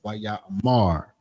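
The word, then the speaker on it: ויאמר: Most Hebrew words have the stress on the final syllable. So it's almost like you'd be practicing. Well, when they say stress on that final syllable, it's almost like Waya Amar. So it's just sometimes you putting that more emphasis on that last syllable, which is the mar.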